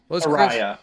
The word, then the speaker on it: Soraya: No, it rhymes with Sriracha. What was Soraya.